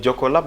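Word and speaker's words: Jokkolab: Oui, mais reparlons maintenant de Jocolabs ou de Jocolab. D'ailleurs, c'est quoi la bonne prononciation? Jocolab, mais Joko, vous savez, c'est Joko.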